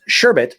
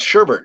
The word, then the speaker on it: sherbet: doesn't like licorice orange sherbet and that is sherbet not sherbet I don't like that to all you people who think sherbet is spelled with an R you're wrong it's Sherbert no it's Sherbert it is s-e-r-s-h-e-r-b-e-t now when